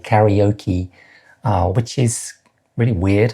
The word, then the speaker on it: karaoke: And that's karaoke, not karaoke for anybody Japanese who's watching.